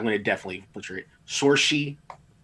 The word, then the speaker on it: Saoirse: Sorshi, because I sound like Sushi.